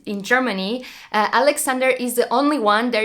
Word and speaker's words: Alexander: to Alex and now let's hear how Germans pronounce Alexander Alexander and how do they pronounce Alex Alex Alexander